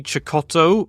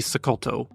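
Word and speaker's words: Cecotto: because some people say Johnny choto because it turns out he's actually an Italian surname even though he's from Venezuela um but in Venezuela it would be sakoto so Johnny sakoto Andrea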